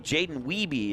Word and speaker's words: Jaden Wiebe: and it brings up, I believe, Jaden Wiebe is how the PA announcer pronounced it.